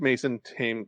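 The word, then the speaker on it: Mason Thames: But u but I did I mostly liked Mason Tame. I have to get that pronunciation. him is like the river.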